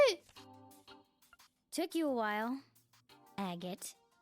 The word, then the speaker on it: Agate: How did you pronounce it? Took you a while. Agate. Agate?